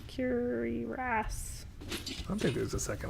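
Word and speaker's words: cuirass: this cler Stormcloaks car how do you say that curious should I keep the stor cloak curious no it's curas I think there's a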